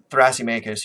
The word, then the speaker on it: Thrasymachus: And it's going to come up in this discussion that Socrates has with Thrasymachus or Thrasymachus, whichever pronunciation you prefer.